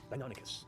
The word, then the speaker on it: Deinonychus: I'm sure I've got the actual pronunciation for it here. Where's the... Deinonychus is what it's known as.